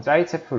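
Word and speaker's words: Zaitsev: 룰이라고 얘기를 하는데 뭐 어차피 러시아 사람 이름이 라서 정확한 발음은 뭐 따라 하지 못하지만 보통 짜이 체 프 으리라고 얘기를 해요 어이 경우에 어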